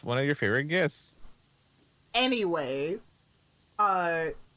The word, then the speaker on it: GIF: It's one of your favorite gifts.